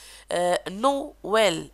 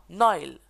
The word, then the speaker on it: Noël: Noël, et non Noël. Est-ce que vous avez compris? Donc le tréma sert à prononcer séparément les voyelles.